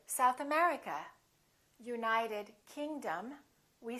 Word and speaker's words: South America: and names of places if the place has two words we stress the second word for example south america we say south america united kingdom we say